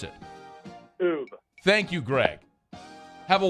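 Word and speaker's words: Oubre: How do you pronounce it? Oob.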